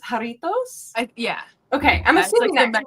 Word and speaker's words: Jarritos: It looks like, is it pronounced jarritos?